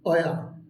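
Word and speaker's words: where: WACRE, অয়া, WACRE, অয়া। আমরা কিন্তু এটাকে হয়ার বলে থাকি, কিন্তু এটার সঠিক উচ্চারণ হবে অয়া, অয়া বা অয়ার।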